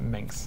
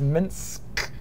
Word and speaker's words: Minsk: I always pronounce it Minx. I'm sorry. So yeah, there's Minsk there.